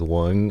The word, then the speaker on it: Quan: Actually, can you guys help me pronounce it as Wang?